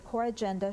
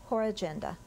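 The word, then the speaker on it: corrigenda: Readers of the news magazines were delighted when the editors decided that the coragenda should be more prominently placed. Coragenda. Are there any alternate pronunciations?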